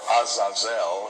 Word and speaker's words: Azazel: Well, J.R., one of the fallen angels was called Azazel or Azazel, it would be pronounced in the Hebrew.